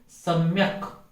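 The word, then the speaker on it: सम्यक्: ऐसे ही सम्यक, इस सम्यक में क जो है वह हलंत है अंत में, म तो आधा है ही लेकिन क भी हलंत है, अतः सम्यक, सम्यक नहीं सम्यक। तो सम्यक इस प्रकार से इसका उच्चारण होना चाहिए।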